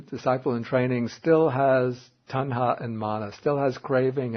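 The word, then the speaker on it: taṇhā: and because of his my pronunciation is going to be terrible no tana and mana tanha and Mana okay because of those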